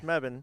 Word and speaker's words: Mebane: that's how you say it right apparently it's meban unless you ask GPS and then it's Mebane so it's spelled this way and you pronounce it meban